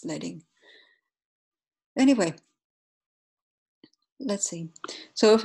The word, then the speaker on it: leading: the default each font has a default optimal letting yeah and I know it's weird that to theme but it's not pronounced bleeding but it comes from the old